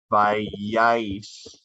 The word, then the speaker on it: vayáis: Vosotros y vosotras, used in Spain, vayáis. Accent in the A. Accent in the second A. Accent in the last syllable of the conjugation.